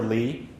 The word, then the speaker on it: Lea: His name's pronounced Lee, even though it's L-E-A.